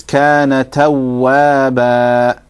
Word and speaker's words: كان توابا: And wow with a shadda is kana tawwaba.